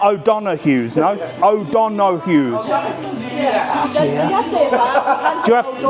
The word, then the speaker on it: O'Donoghue's: O'Donoghue's. Oh dear. So you have to say it fast.